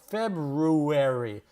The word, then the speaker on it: February: It's pronounced February.